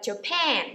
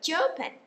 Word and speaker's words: Japan: Các bạn nhớ là nước Nhật thì chúng ta sẽ nhấn phần thứ hai là Japan, chứ chúng ta không đọc là Japan. Nhiều người hay đọc là Japan thì nghe nó giống